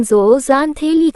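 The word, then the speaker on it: zooxanthellae: गर्म पानी में रहने वाले उथले पानी के मूंगों के पास अक्सर भोजन का एक अन्य स्रोत ज़ोक्सांथेला उच्चारण ज़ोज़ांथेलिक होता है।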